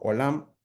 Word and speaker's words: olam: En hebreo, eternidad también se describe como la palabra en hebreo olam. Eh, se escribe o l a m.